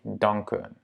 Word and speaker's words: danken: Danken. Ça reste un A court.